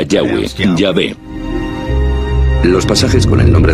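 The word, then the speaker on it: Yahvé: nombre más íntimo y personal que normalmente se pronuncia yahwe yah los pasajes con nombre de yavé que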